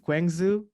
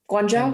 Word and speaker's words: Guangzhou: i've played at uh i don't know if i will pronounce it well but kwang zoo okay and then shanghai oh guangzhou i think it was guantanamo what do you say guangzhou think this is yeah that's